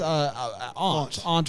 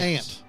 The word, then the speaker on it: aunt: How do you pronounce aunt or aunt? Ant. I pronounced it ant.